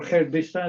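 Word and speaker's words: Gert Biesta: I've been working for a while with Gerd Bista, or Gerd Bista, as is the right pronunciation, and also Herner Severus from Norway.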